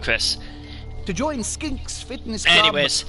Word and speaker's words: Chrace: um i don't know how much pronounces it trace or chris go for it um i heard tim call it chris uh we'll go with chris to join skinks fitness